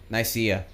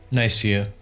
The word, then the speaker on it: Nicaea: Nicaea. Or maybe... Really? Nicaea. It's Nicaea. It's... Wikipedia tell me. Nikai... Ni... I think the first A is silent.